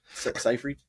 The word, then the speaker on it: Seyfried: Seyfried. Sey Fried. The last part is spelled fried.